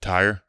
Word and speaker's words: Thurer: How do you say it? Tire.